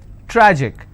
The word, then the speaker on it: tragic: Tragic, tragic, I will stress on tra.